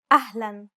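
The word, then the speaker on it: أهلاً: the following words loan ahlan unlike the English L the tongue is ever so slightly flatter and straighter in Arabic don't worry if you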